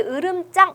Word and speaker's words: 으름장: 발음은 짱으로 나시 있죠 그래 으름장 할 때 이렇게 된소리 필요하지 않습니다 음 그리고 우리가 의사 되다